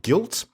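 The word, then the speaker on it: Gylt: So the first one which caught my imagination immediately is this new game by Tequila Works called Guilt, spelt with a G-Y-L-T.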